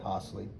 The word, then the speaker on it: Hossley: So Dennis S. Hossley, Hosley, I guess you would pronounce that Hossley, was born in 1841 in Vicksburg in Warren County, Mississippi.